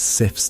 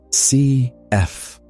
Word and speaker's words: Sif: The goddess Sif's name in Old Norse is pronounced Cf, Sif, though it is often anglicized to Sif, Sif.